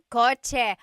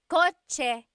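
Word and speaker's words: kotse: The cha sound is a ts combination. Coche. car is with a ts spelling.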